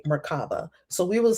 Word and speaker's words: Merkabah: Enoch raised upon the wings of the Shekinah or Shekinah to the place of the throne, the Merkabah, and the angelic hosts.